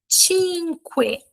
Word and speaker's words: cinque: Cinque. Cinque. Eu falei o U, tá? Cinque. Cinque. Então, lembrem, sempre que vocês virem a letra U, vocês vão pronunciá-la, tá bom?